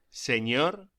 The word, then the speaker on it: señor: La ñ se pronuncia como gn en francés o ni en inglés, como por ejemplo onion. Pronúnciese señor y señora.